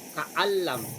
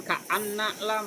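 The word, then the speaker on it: كأن لم: Ingat, ini bukan ka'anna tapi ka'an. Ini dimatikan ya. Ka'allam, bukan ka'anna lam, bukan, ini ka'allam.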